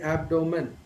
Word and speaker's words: abdomen: first syllable so typically the right pronunciation would be abdomen but most of the Indian speakers have developed a neutral accent under which this word would be said as abnormal do you notice the